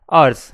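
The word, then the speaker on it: hours: एच क्या होता है अर्स यानी कि हर्स है ना एच साइलेंट है डब्लू यानी कि वर्क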